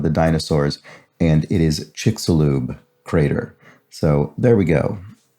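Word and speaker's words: Chicxulub: the extinction of the dinosaurs and it is chiksulube crater so there we go i actually brought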